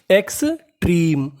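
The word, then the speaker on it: extreme: ई ट्री एम ई आखिरी में ई का उच्चारण करना नहीं तो मीनिंग बनी एक्सट्रीम एक्सट्रीम एक्सट्रीम का मतलब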